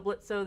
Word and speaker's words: Blitzo: Also Blitzo, the O is silent.